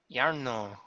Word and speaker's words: Iarno: And you said his name was what was it, and how do you spell it? Iarno. IARNO. Yarno.